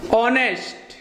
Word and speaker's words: honest: that he is an honest। ऑनेस्ट जो है abstract noun से हमने ऑनेस्ट लिया है। ऑनेस्ट का प्रोनाउंसिएशन ओ से होने के कारण यहाँ आर्टिकल क्या है, एन, यहाँ के भी छोटी सी।